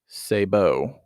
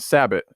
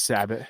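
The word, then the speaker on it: sabot: but it's actually pronounced sabbo it's not sabit it's pronounced Sabo it's actually a French term in Indiana it's sabbot yeah yeah it's gonna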